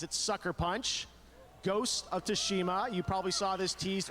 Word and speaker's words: Tsushima: as or I've been Tsushima? saying. A true cinematic look. Enjoy. How do you pronounce that? Ghost of Tsushima. Because everyone's pronounced it differently. Because TSU is Su. So is it Tsushima?